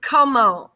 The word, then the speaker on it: comment: So how is comment. Comment. And we don't pronounce that T. So comment. It's not comment, it's comment.